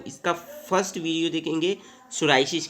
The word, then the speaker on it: psoriasis: बारे में पढ़ेंगे देखिए सोराइसिस सोराइसिस में पीस साइलेंट है ठीक है सोराइसिस की